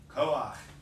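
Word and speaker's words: כֹּחַ: When the last letter of a word is a chet, and the vowel underneath it is a patah, the combination is pronounced ach, not ha.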